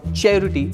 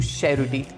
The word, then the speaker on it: Cerruti: this famous Brand's pronunciation just changed from cherot to Sher and I'll tell you